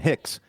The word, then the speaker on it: Hicks: Aaron rhymes with bear in, and Hicks rhymes with kicks.